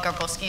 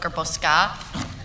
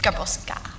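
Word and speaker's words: Garbowska: It's like this ongoing joke how I keep getting called Garbowski instead of Garboska. Because there's an A, but you pronounce it apparently like an I.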